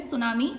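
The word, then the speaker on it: tsunami: result के रूप में सुनामी भर कर आती है सुनामी में क्लास टी साइलेंट है जब भी आप सुनामी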